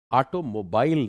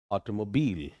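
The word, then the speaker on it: automobile: ऑटोमोबाइल नहीं, that is ऑटोमोबाइल, ऑटोमोबाइल।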